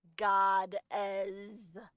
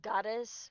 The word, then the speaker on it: Goddezz: And the way to pronounce my name, sir, is Godz. So instead of goddess with the S, it's just Z's.